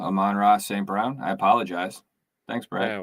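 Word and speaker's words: Amon-Ra St. Brown: want to think that i'm on raw st brown numbers did we say it wrong say what did i did i say it wrong i'm on raw saint brown i apologize thanks bro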